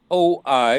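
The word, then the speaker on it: οι: i as in eight o i as in oil a u as in sauerkraut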